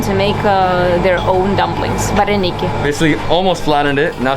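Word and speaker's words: вареники: Vareniki. Vareniki.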